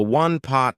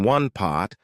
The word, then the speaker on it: one-pot: A one-pot meal is a meal that can be cooked in one pot, and I want to draw your attention to how I pronounced it. Instead of saying one pot, I said one pot.